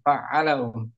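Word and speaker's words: فعّل: Kalau tak dari wazan ini nih faala faala harus tepat bacanya faala gitu. Tekan fa'ala. Hm.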